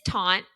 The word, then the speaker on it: tante: uh T tante tant tanty TTI that tanty is the best yeah I mean it is taunt so French for ant but they kind of